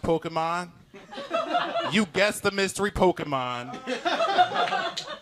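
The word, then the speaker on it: Pokémon: every day of the week you know it's pronounced Pokemon you guess the mystery Pokemon every day of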